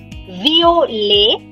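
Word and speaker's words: violette: Now here there is a change in pronunciation. Masculine singular. The masculine singular part is called violet. Violet.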